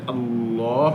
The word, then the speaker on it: الله: ডানে জবর অথবা পেশ হলে আল্লাহ শব্দের আগে ডানে মানে আগে জবর অথবা পেশ থাকলে আল্লাহ মোটা হবে যেমন কলাল্লাহ কল্লাহ আল্লাহর